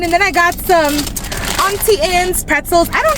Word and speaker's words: Auntie Anne's: then I got some Auntie Ann's pretzels. I don't say Annie Ann's. I don't know why people be saying Annie Ann's. It's A-U, that's all. Auntie. Auntie, not Annie Ann's. It's Auntie Ann's or Annie's or whatever.